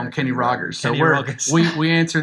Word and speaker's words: Kenny Rogers: Because when you're from some parts of the Arab world don't do that hard G, so they all do the soft G. Kenny So they Rogers. call him Kenny Rogers.